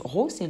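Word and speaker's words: ρ: sorte de paix en physique l'instant elle se prononce rossé la lettre grecque qui se prononceront donc gros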